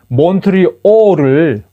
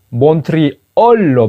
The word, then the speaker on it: 몬트리올: 몬트리올을 몬트리얼로 발음하는 거하고 롱게이를 롱게일이라고 발음하는 겁니다. 몬트리올 할 때 그 몬트 더하기 리얼, 마치 리얼 에스테이트 부동산 할 때처럼 리얼로 이렇게 분석을 해서 나름대로 분석을 해서 몬트리얼이라고 쓰는데 여기서 말하는 그 리얼은 이게 원래 리얼이 아니에요.